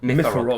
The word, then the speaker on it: Myfarog: Yes, I thought it was Myfarog, but that's how he pronounces it. Myfarog.